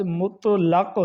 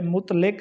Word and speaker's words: مطلق: ایک لفظ ہے مطلق۔ یہ لفظ مطلق ہے، مطلق نہیں ہے۔ اسی طرح ایک لفظ